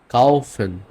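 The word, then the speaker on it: kaufen: ওকে আরেকটা কম্বিনেশন দেখি আ আর উ মিলে উচ্চারণটা হবে আও এর মত আও আমি আপনাকে এক্সাম্পল দেখাই লাওফেন ওকে লাউফেন কাউফেন ফাউল লাফেন মিন্স ওয়াক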